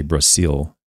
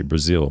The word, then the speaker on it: Brazil: at the word Brazil, when you pronounce the word Brazil, you don't say Brasil. You say Brazil because that's the way they pronounce it, even though it's with an S, you pronounce it with a Z.